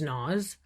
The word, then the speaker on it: Noz: That's so funny because my name is Noz with a Z. You pronounce it like the rapper, but it's N-O-Z.